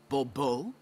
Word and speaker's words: Bobo: yet as Monsieur de Bobo fine Monsieur de bubo the emphasis falls on the last syllable Babu mm-hmm see now I'd